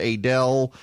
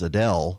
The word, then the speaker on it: Adel: down in Quitman Valdosta a del a that's another one the a del area speaking of pronunciations here as opposed to I heard that's had somebody refer to it to me as Adele heard you were on